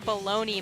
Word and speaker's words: bologna: That is the spelling for baloney, my good friend.